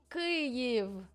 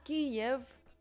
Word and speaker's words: Kyiv: The guys, Kyiv, not Kiev. Kiev doesn't exist now. It's Kyiv. Correct.